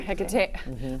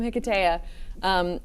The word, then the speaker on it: Hiketeia: Hiketeia. I said it right the first time. Hiketeia.